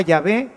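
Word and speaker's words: Yahvé: no tiene ninguna significación la palabra llave significa el que es y entonces por eso nosotros usamos exactamente la palabra que identifica a dios yo soy el que soy es decir llave y sabemos que se escribe y se pronuncia así por otras palabras que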